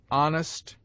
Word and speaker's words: honest: It seldom begins any but the first syllable, in which it is always sounded with a full breath, except in air, herb, ostler, honor, humble, honest, humor, and their derivatives.